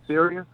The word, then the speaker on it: Sirius: remember experiences that are you pronounced it serious yes sir yeah and the caller